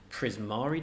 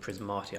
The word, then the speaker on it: Prismari: finally got some good prismari decks i can never pronounce it prismatic i always want to say so i finally